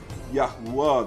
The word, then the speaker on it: יהוה: They will pronounce it as Yahuwah.